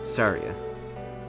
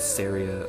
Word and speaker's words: Saria: and tail and then saria i'm very sure about this one it's not psoriasis syria or anything else it's saturday the japanese